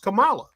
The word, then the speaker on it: Kamala: in 2016 her name is Kamala her it's pronounced Kamala it's spelled the same way her name is Kamala Khan she's supposed to be Pakistani so I